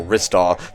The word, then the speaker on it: Ristar: I'm still convinced that that level's theme is Ring Rink from Ristar, or Ristar, to say it properly, so I gotta deprogram myself here. Just, like, slowed down. No, it's Ristar.